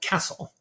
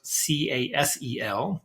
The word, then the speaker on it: CASTLE: I'm also the founding director of a university center called CASTLE, not CASEL, the social emotional learning CASTLE that most people know. My castle, spelled like the medieval castle, has been around since